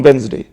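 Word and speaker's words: Wednesday: हैं 9th media reports कुछ media reports ओं वेनसडे लेकर इस बांध की जो सही प्रशिक्षण होता है या फिर यह डिश साइलेंट है कभी भी इसको ए वेडनेसडे नहीं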